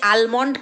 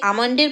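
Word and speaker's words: almond: বলে গো এই যে আমন্ডের প্যাকেটটা এনেছে আলমন্ড বলে হ্যাঁ লেখাটা থাকে এল এম ও এন ডি কিন্তু উচ্চারণটা তো আমন্ড হয় বাট ও বলছে আলমন্ড যাই হোক আলমন্ডের প্যাকেট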